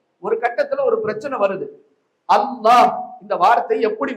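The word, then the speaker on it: الله: சதக்கத்துல்லா அப்பா சொன்னாங்க இதுல ரெண்டு லாம் வருது. அதனால இது வந்து இந்த ரெண்டு லாம் வர்றதுனால லாம் மாதிரியும் உச்சரிக்க கூடாது. லாது மாதிரியும் உச்சரிக்க கூடாது. ரெண்டுக்கும் நடுநிலையாகதான் உச்சரிக்க வேண்டும் என்று பிரச்சனை.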